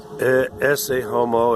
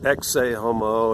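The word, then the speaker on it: Ecce homo: You know, all day long I fight with people over the correct pronunciation of words. It's not Australopithecus, it's Australopithecus. It's not esse homo, it's exe homo.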